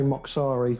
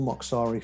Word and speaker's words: Mocsari: Well, we say Mocsari, but it's Hungarian, and I've been corrected by Hungarians before that I'm told I'm saying it wrong, but we use the anglicised version, so it's Mocsari for us.